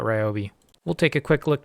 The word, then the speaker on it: Ryobi: think I just learned I've been pronouncing Ryobi incorrectly everyone says it's riobe I don't know that sounds wrong to me so I'm going to call it Ryobi we'll take a quick